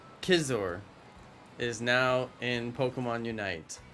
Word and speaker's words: Scizor: do one outbreak tonight Scizor is pronounced like scissors with no s so kissers scissor with no s